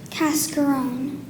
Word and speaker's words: cascarone: Cascarone. And there are no alternate pronunciations?